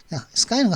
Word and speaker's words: Skye: Skye는 하늘이죠. 근데 하늘에다가 이가 붙었는데 발음은 Skye라고 합니다. Disputed 하면 뭐 분쟁거리가 있는 뭐 이의 지역이 되니 거죠.